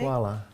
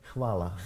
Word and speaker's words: hvala: Hvala. Hvala.